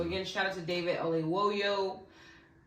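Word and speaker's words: Oyelowo: of emotion so again shout out to David O woyo right yeah you said it right for being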